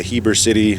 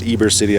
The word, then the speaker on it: Heber City: all the way to Heber City pronounced Eber City I guess the H is silent that's about 80 miles